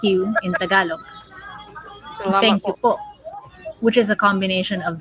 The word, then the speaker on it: po: When pronouncing po, you'll want to put a glottle stop at the end. It means that your throat closes right over here. Po. It's not po, but po.